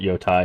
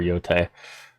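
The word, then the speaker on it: Yōtei: I don't think anybody really cares if you call it Yotai or Yotei, but I mean, probably somebody cares. But we'll try to remember to pronounce it correctly. But Ghost of Yotei in the afternoons, and we'll be continuing that.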